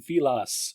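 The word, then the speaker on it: Villads: a bit to me Captain vas uh the D is silent uh I like him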